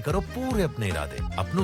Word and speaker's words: Paris: पेरिस नहीं, पेरी।